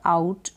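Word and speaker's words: out: तो सबसे पहले है यहाँ पर आउट। आउट का मतलब होता है आउ और टी को ट।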